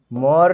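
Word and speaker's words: Mohr: বলে মোর সল্ট বুঝেছো এটারে বাংলায় উচ্চারণ লাগে মোর লবণ তোর লবণ না মোর লবণ আচ্ছা সো মোর সল্ট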